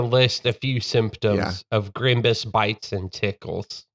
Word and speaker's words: Grimbus: I will say, if you have been bitten by Scrimbus in the past 2 Grimbus. weeks, Grimbus? Yeah. Sorry. It is spelled GRIMBSSS.